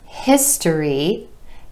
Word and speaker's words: history: Another example, history, history, 3 syllables with emphasis on the I vowel sound in the first syllable.